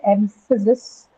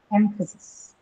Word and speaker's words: emphasis: Now how about emphasis? Where do you think the stress will be on emphasis? emphasis. M I'm the first syllable. Which one? No, the first syllable M. Ah, the first one.